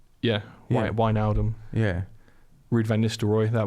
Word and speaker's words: Wijnaldum: If it's an IJ, if it's an I and a J, I think it gets pronounced as a Y.